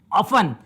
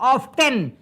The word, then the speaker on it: often: एक और ले लेते शब्द हम लोग, ऑफन। इसका उच्चारण लोग गलत करते हैं, लोग बोलते हैं ऑफ्टेन। ये ऑफ्टेन नहीं है, ये ऑफन है, OFTEN, ऑफन, यानी प्रायः।